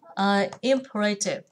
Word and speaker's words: imperative: Và chú ý hơn cho cô cái từ imperative. Imperative, imperative, trọng âm do nhấn vào âm thứ nhất, imperative.